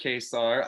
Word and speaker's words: Ka-Zar: We get pronounced Ka-Zar.